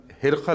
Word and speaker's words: ہرقل: جب ہرقل کا ذکر آئے گا تو لفظ ہرقل ہی پڑھا جائے گا۔ اسی لفظ سے وہ